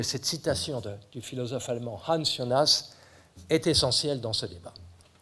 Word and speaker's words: Hans Jonas: Bon, en allemand, Hans Jonas se prononce Hans Jonas, mais peu importe.